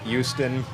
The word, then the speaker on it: Houston: And that's how we pronounce it. It's Houston. And this notion that that